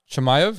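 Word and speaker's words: Chimaev: getting Islam versus vul dude and Usman versus chamv is how you say it next week is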